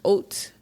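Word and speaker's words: haute: when people say like hot Couture but it's Oak Couture h a u t e is pronounced oat so it's oat Couture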